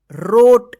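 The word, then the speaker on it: wrote: ना क्या पढ़ेंगे रोज डब्लू आर ओ टी ई रोट देखिए यहां पे यहां प डब्लू भी क्या है साइलेंट लेटर है ठीक तो क्या होगा रोट एच ओ पी ई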